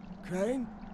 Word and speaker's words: Crane: no my name's crane crane crane rhymes with train and brain and sun and grain